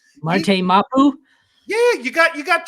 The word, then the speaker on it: Marte Mapu: Marte Mapu?